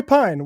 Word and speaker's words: Pein: name it's you know am I doing that no Pine is Pine is right you got it I